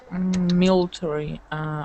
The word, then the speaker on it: military: Okay, so that's interesting because we have an AR sound here, or letters here, and AR here. They're pronounced absolutely differently.